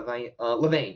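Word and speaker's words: Levain: um is it Le I'm trying to make sure I'm pronouncing the name right because I was calling it the wrong thing the entire time um levian um B it was LE leevan yeah leevan Bakery and they were like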